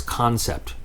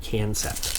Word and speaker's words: Concept: No matter what you think or what your brain wants to do, they want you to pronounce this concept, not cancept.